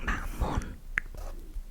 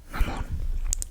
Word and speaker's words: mamón: I mean, if you really want to be like very specific about it, you could as un acento in the O, mamon, mamon.